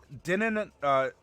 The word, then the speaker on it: Din: Dinin, dine? No. Din, not dinner.